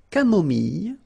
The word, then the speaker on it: camomille: So remember when we get this E and then double L, it goes like Y, Y. Mille, mille, camomille.